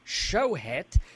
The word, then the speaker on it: Schochet: You pronounce it shet. Is that because the the goyam can't pronounce a?